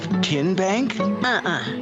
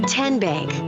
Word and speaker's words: TN Bank: you enroll wildcats role how do you say the name tn bank nope tin bank so what is it ten bank 10 as in tennessee right here where all